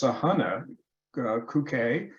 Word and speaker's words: Sahana Kukke: Well, actually, here it says it's actually pronounced Sahana Kuke, in recognition of her outstanding professionalism and scientific and collegial interactions.